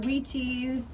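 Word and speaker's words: Wyche's: Dr. Weechies. That's how you say it.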